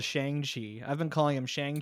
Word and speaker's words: Shang-Chi: movie they're like oh no it's shangchi okay and i'm like oh i don't know chinese names very well oh i can't yeah yeah because of the cause if it was shanky it'd be spelled with an x ah okay i'm glad